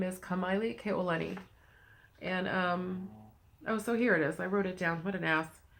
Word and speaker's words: Kamalie: part, and I'm like, no, it's not like Miley Cyrus, it's Kamalie.